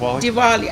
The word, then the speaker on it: Diwali: yes yes ok so let's talk about Diwali or Diwali how do you say it Diwali actually it is Deepavali the longer name you are pronouncing it correct but there's another sanskrit